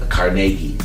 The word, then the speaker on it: Carnegie Hall: comedy concert at comedy Hall uh I mean carnegi this pronounced carnegi at Cari Hall I'd love to